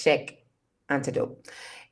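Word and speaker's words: Cheikh Anta Diop: thing that I knew about Senegal was that Shanta Atadop, if I can say his name right, Jope. Okay, yeah. I want to make sure I don't butcher his name either. It's Sheikh Antidote.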